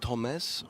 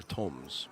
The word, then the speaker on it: Tomasz: Is it Tomas or Toms? Tomas. Tomas.